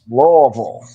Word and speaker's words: Louisville: Deeds is all the way east, but I get corrected when I mispronounce Louisville when I should say Louisville. 13 and a half point favorites. Louisville.